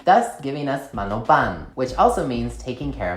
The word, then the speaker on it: Manoban: it sounded really weird her last name is actually pronounced as mano ban with an n sound this is because in